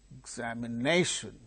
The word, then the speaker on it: examination: look there the examples for instance examination examination so which syllable is gaining primary stress nation sir exam the second syllable gains secondary stress secondary stress is gained by second syllable here it is not